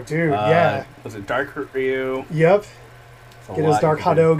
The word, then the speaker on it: Ryu: The man, the myth, the legend, Hadouken Ryu. Or Ryu, if you want to say it proper.